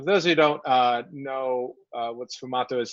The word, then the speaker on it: sfumato: Any tips for sfumato with oil paints?